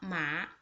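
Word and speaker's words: 麻: The second one with second tone, pronunciation is just like this. Mo a ma. This is a character for ma. It means hemp.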